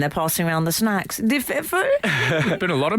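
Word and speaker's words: de Pfeffel: It's Alexander Boris Defeffel. Yeah. From the German Defeffel. Defeffel. Because Sounds like you're at a German cocktail party and they're passing around the snacks. Defeffel.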